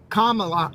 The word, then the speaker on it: Kamala: and says why hasn't Kamala camela camela Comm I have a hard time remember how to pronounce just think of the think of the punctuation comma and then love me do it this way where I know I'm